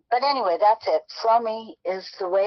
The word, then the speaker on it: Fromme: There are Fromme, I believe, is a Yiddish or German, I mean, a Jewish pronunciation without the E, and at least that's what I've been told.